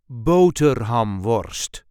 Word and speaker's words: boterhamworst: There is a light emphasis on the first syllable. Boater hum worst. Bo hum worst boater hamst bohamst I hope this video was helpful.